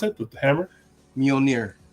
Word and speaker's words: Mjolnir: How do you pronounce it? The hammer? Mjolnir. Mjolnir.